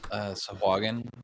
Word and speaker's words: sahuagin: Sahuagin.